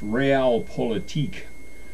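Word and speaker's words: Realpolitik: week going so far the cookie today is pronounced real politique this confectional have a many layered Middle Eastern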